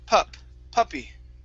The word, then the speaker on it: puppy: This word here, instead of poopy, it's puppy. Puppy.